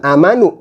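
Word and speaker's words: آمَنُوا: Amanu, bukan amanu, tapi amanu dibacanya panjang satu alif atau dua harokat.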